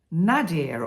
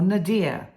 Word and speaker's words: nadir: quite an interesting word it's nadir or Nader which is spelled n a d i r and it's actually the